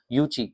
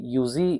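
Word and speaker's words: Yuezhi: Cushions यूची यह यूजी जो लिखा है ये एक्चुअली यूची इसका प्रोनाउंसिएशन है। यू ची ये प्रोनाउंसिएशन है इसका। यूजी उसकी स्पेलिंग है लेकिन यूची है वो।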